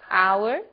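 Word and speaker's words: hour: O som do H. Pronunciado desde a garganta, como em hotel, e mudo em 3 casos. Our, honest, honor.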